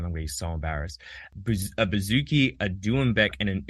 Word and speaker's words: bouzouki: A bouzouki, a doumbek, and an oud.